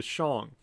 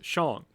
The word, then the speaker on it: Shang: Now, one thing I want to point out, sometimes when Americans see this word, Shang, they want to pronounce it Shang. But usually in Chinese and actually both Japanese, as a kind of tip, the A's are long.